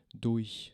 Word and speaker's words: durch: Durch, cuando la escuchan como la dicen los alemanes, rápido, dicen durch, suena así, ¿no?